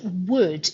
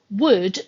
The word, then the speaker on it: would: One final point is to be very clear that the L in the word would is silent. Would, W-O-U-L-D, is the same pronunciation as wood, W-O-O-D, which comes from trees.